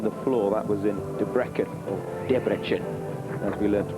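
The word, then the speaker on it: Debrecen: took gold on the floor that was in debrecken as we learned to pronounce it in hungary we're underway that's a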